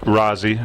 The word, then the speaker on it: Rosi: Yeah, it's spelled R-O-S-I, but it's pronounced Rosie. It's short for Rosalind.